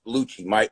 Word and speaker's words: Luce: and in the world, it's just Lucci. My brother Nicky goes as Lucci. My aunts go as Lucci, but Luce, Lucci, Luce. I don't give a shit as long as it's spelled the same on my check.